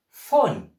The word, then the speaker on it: phone: Don't forget I told you the PH carries that F sound.